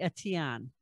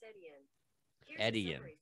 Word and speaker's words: Etienne: So first of all, if it's French, it's probably Etienne. It's E-T-I-E-N-N-E.